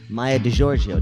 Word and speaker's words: Maija DiGiorgio: We have Dana Gould and Maija DiGiorgio. Did I pronounce that correctly?